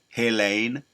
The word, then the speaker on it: Helene: That's how you pronounce it. Helene, hell, and it's hell for them.